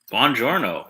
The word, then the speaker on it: Buongiorno: Buongiorno, in the words of Brad Pitt. That is the correct pronunciation.